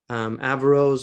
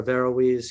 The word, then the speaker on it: Averroes: So you've asked me to talk about Averroes or Averroes. He's pronounced different ways, but originally it's an Arabic name, Ibn Rushd.